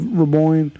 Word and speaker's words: Raboin: Raboin, rhymes with coin.